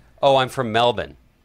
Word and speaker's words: Melbourne: Locals say Melbourne.